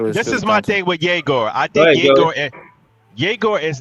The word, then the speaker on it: Egor: Yegor he got the basketball IQ.